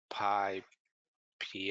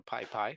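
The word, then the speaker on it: PyPI: there's a link to the pi pii I think it's pronounced so Pi piie where you can find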